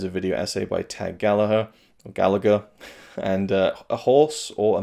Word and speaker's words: Gallagher: a Touchdown is a video essay by Tag Gallagher. And A Horse or a Mary is a video essay by Tag Gallagher. Yeah. So I got caught up there thinking about the wrestler Jack Gallagher, who is pronounced Jack Gallagher, not Gallagher.